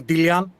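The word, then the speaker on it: Delian: Uh we we usually pronounce the company Dillian. It comes from the the island of Dillos.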